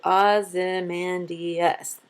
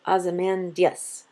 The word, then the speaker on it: Ozymandias: Now, I pronounce it Ozymandias, giving it 5 syllables. But Shelley, in his time period and in Britain, would have pronounced it Ozymandias, giving it only 4 syllables.